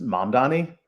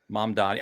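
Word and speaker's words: Mamdani: Is it Mom, M-U-M? Don, it's I'm Mom? oh boy, I'm Mom Donnie? 98% certain it's Mom Donnie. Mom Donnie.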